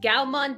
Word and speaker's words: Gaomon: go to google and you googled Galvan which is spelled right up here it's gal Mon driver it'll come up right to this page